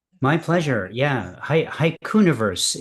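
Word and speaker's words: haikuniverse: Hiuniverse is how that's pronounced. I know it's a word that I made up and so people uh re rebel against it by by dividing it up into two words, but it's hauniverse. Um uh which I only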